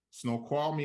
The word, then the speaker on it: Snoqualmie: Doolittle is located in, can't even pronounce it, Snoqualmie, Washington.